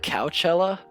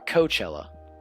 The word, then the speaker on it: Coachella: selling fury sedatives illegally is that couchella or coachella how do you spell coachella it says couch i'm gonna look that up because i don't want to like pronounce it wrong okay that is how you pronounce coachella oh yeah and